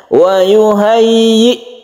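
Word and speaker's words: وَيُهَيِّئْ: lakum Min amrikum mirfaqo wauhayyi lakum ini juga harus jelas sukun hamzahnya ya Yang berkasrah tasdidnya ini harus hati-hati harus kita perhatikan di dalam membacanya wauhayi wauhayi jadi yinya itu harus jelas wuhayyi lakum Min amrikum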